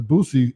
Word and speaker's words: Boosie: i thought you said gucci oh okay no boosie okay busy and it's not little boosie uh